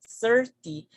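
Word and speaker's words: thirty: On the first word, on the first number, we say 30, 30. So the stress falls on the first syllable, which is 30.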